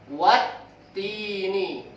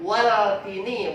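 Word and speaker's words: والتين: Jadi bacanya watini. Bukan waltini. Atau bukan juga waaltini.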